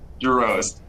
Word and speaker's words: Giroz: Giroz. Giroz, just as it is spelled.